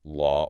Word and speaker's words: law: Those letters, the silent W in law or saw and the silent L in walk or talk, before a consonant, are purely spelling conventions. They are historical markers signaling, hey, use the back vowel ah sound here.